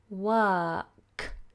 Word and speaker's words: work: and then we have work see how my tongue stayed flat because it's a silent R we don't pronounce the R because the following letter is a consonant and the sound I